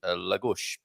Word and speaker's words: Lagos: And we have a pronunciation, Lagos. Like a bit of a gush at the end there rather than a gosh.